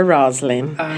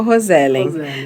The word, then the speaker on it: Roselen: Na realidade, é um nome inglês, seria Rosalind. Mas entendi. Ninguém no Brasil nunca falou Rosalind. Daí ficou no Brasil, ficou Rosellen.